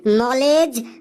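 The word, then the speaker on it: knowledge: স্যার বোর্ডে ওটা লেখা আছে কে এন ও ডব্লিউ কেন এল ই ডি জি ই লেডিজ স্যার ওটা লেখা আছে কেন লেডিস কেন লেডিস বাপরে বাপ কি সাংঘাতিক উচ্চারণ রে বাবা স্যার বোর্ডে ওটা লেখা আছে নলেজ নলেজ মানে জ্ঞান এই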